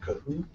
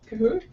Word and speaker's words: Kahoot: Another polling tool, if you've never used it before, is a program called Kahoot. Kahoot? Kahoot it. And the reason you might want to use it, it's spelled K-A-H-O-O-T, so if you look that up,